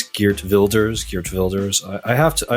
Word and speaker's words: Geert: we mention CER on and I'm told it's geers geers I have to I have to mispronounce the Dutch words if I mispronounce Iran